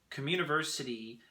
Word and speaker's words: communiversity: aligned come university so communiversity is pronounced like come university but it's actually spelled communiversity kamu means the great